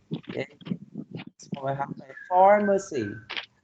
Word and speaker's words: pharmacy: So we have a pharmacy. The first syllable is stress. Pharmacy, right? Next one, number 3.